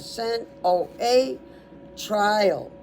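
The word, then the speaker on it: sinoatrial: So this is all one word and it's sin like you committed a sin. O a trial like you're in a trial.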